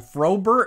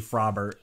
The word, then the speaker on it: Frobert: I called fro them frober it's probably frobbert right because it's like Robert and like frog is pronounced frog not frog uh that's my bad her name is it's definitely frobbert anyway uh let's type